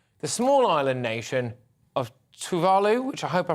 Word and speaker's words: Tuvalu: How do I pronounce it? Tuvalu.